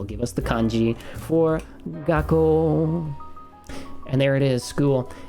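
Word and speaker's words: 学校: But that is gakkou, and that is little tsu. So whenever you see little tsu, it means wait a second before you move on to the next sound, okay?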